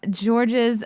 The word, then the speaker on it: Georges: more question here from george's habib i know i'm saying your name wrong ask him about when he almost got whacked the s is silent french name oh georges whatever sorry